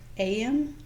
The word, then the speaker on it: Eyam: during the plague to what AM England in Derbyshire am like morning well that's how pronounced okay all right gotcha am